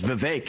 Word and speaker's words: Vivek: I often open up, I say, my name's Vivek, it rhymes with cake.